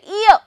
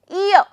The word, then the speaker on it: ear: e if you say ear R is silent always ear so in that case